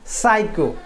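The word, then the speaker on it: psycho: मैं यहां पर लिखा पी एस वाई सी एच ओ आप मुझे बताइए इसको क्या पढ़ते हैं इसको क्या पढ़ते हैं तो इसको पढ़ते हैं साइको इसको साइको पढ़ते हैं साइको साइको ठीक है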